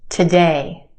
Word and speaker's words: today: Okay, try this one. Today. Again, we've got two syllables in this word. Our second syllable has the stressed or emphasized vowel sound. A. We stretch that sound and put it in the spotlight. The first syllable is where we have our schwa sound. Today.